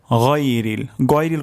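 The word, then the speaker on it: غير: আলাইহিম তারপর শব্দটি হলো গইরিল কখনো হবে না গয়রিল এটি অশুদ্ধ উচ্চারণ উচ্চারণটি এখানে হবে হলকের গলার শেষ শেষ ভাগ থেকে উচ্চারণটি হবে গাইরিল মাদুবি মাদুবি মাগদুবি এটি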